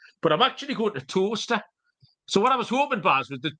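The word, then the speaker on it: Towcester: a go it's spelling toaster it's pronounced like the item of kitchen wear that you put your bread in uh but it's spelled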